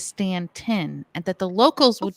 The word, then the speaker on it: Staunton: with that being said Joe told us it is not Stanton it is stantin and that the locals